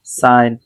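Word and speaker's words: sign: এটা শুধু মনে রাখবেন ডিজাইন রিজাইন rain ফেইন সাইন এলাইন এখন আপনাদের কাজ হচ্ছে ভিডিওটা তো দেখবেন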